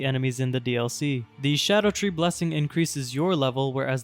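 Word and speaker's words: Scadutree: Yes, apparently this is pronounced as Shadow Tree and not Skadoo Tree. It's supposedly the Old English spelling for it, and they also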